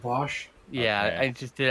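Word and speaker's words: Vaush: just a lot ah vouch huh oh god it's pronounced bosh yeah i just did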